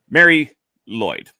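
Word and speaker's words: Mari Lwyd: And it is, I'll use the English pronunciation rather than the Welsh one. Mary Lloyd.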